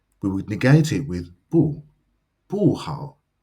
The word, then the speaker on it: 不: note here is that bu is fourth tone, and it stays that way when it comes before any word that is first, second, or third tone, or any syllable. However, when it comes before another word or syllable that is also fourth tone, bu changes to second tone.